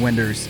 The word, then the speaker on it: Winders: He goes, yeah, It's like I'm Winders. He goes, it's like, South? he's like, it's like if you're saying Windows from the South is Winders.